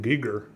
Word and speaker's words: Giger: wasn't enjoying it but they were pronouncing his name Giger but I I've been pronouncing his name gger my whole life so it's hard to